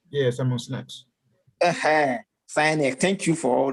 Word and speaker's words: Simon Sinek: I don't know how to pronounce that name. I keep killing names. Simon Sinek. Simon Sinek. Yeah, Simon Sinek.